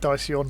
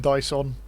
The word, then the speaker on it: Daisyon: And I'm pronouncing it Daisyon rather than Dyson, which I think is what he'd want.